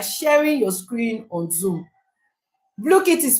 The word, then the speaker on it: Blooket: Blookit is spelled Blooket. Yes, exactly. Thank you, Edidion. That's the correct spelling. Yes, Blookit. That's it.